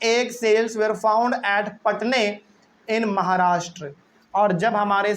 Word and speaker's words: Patne: में एक जगह है पटने, पटना नहीं है, इसका स्पेलिंग है PATNE, पटने।